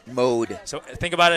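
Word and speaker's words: Maude: Quarterback I think is pronounced mode. Mode. So, think about it. It's spelled M A U D E, but it's pronounced like M O D E.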